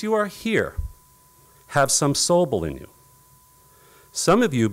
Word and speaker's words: Sobol: him what it means means to be a soble i when oh yes that's spelled s o b o l it's not